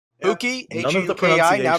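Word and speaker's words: Hewkii: Huki, None of the H-U-K-I, now pronunciations became changed.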